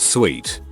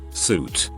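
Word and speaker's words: suite: say the address again insisting i pronounce sweet as suit not allowing me to continue if i say it correctly so i'm utter my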